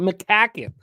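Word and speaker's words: McCaughan: Doesn't look like it would be pronounced McCacken. But that's how Darren pronounces that last name. McCacken.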